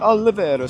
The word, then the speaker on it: Olvera: I don't know why I add an extra whatever vowel syllable in there. I want to make it an Italian spot. Olvera Street.